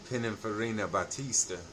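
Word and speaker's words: Pininfarina Battista: you just have to my advice is you just have to pronounce it like an Italian so you know anyway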